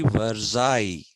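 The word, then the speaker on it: Versailles: is pronounced as mayor similarly verai because LL is there in that basti because LL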